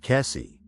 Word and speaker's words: Kesse: This is the story of what happened to Jennifer Kess, pronounced Kessie.